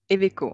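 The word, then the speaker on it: Évéquoz: Éveco, on ne prononce pas le Z, mais sinon c'est pas grave.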